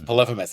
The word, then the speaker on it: Polyphemus: Everybody mispronounced it in 9th grade when we read the Odyssey, and so it was like, no, it's Polyphemus, it's Polyphemus, it's Polyphemus.